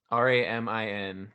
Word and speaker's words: Ramin: the shields the music I don't know how to say his name but it's r-a-m-i-n so I'm gonna say Ramin and then d j